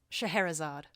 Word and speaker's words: Scheherazade: much like the story of, how do you pronounce her name? Scheherazade.